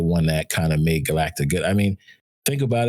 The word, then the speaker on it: Galacta: Galactica, right? So we would call it Galactica. No, it's Galacta.